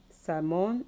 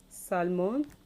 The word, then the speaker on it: salmon: we have almond Becca salmon and arms almond become Guam salmon okay arms let's look at the words again amount they come salmon arms the silent letter here is obviously the letter L is silenced in the